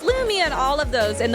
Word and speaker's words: Loomi: So it's Loomi on all of those, and the way you spell that is ITSLOOMI.